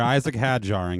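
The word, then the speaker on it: Isack Hadjar: Isaac had jarring it.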